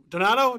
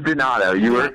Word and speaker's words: Donato: Donato? Did I get it right? I got it wrong. It is Donato. Everyone does that, so don't worry about it. But it is pronounced Donato.